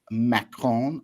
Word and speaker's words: Macron: And Pascal shared with me today a clip from Emmanuel Macron, le président de la République française.